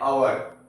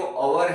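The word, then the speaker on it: hour: Same N लिखूंगा, okay, क्योंकि ये जो अवर है, ऑनेस्ट है, ये सब में एच जो है वो साइलेंट हो जाता है, ओके।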